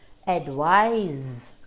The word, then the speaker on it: advise: So can you hear the difference in the pronunciation between these two words? They're very similar, advise and advice. The difference is in the final consonant sound, very slight difference.